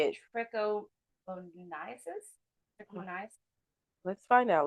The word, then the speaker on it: trichomoniasis: Trichomoniasis? Let's find out. Let's ask Google. Press that little button right there. Trichomoniasis. Oh, trichomoniasis. That was close.